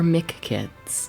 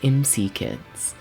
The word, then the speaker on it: M.C. Kids: we're going to be playing MC kids or Mick kids that's what I keep wanting to call it because that's like a better title but like in the manual they explicitly state that it is pronounced MC kids it is a McDonald's game but you know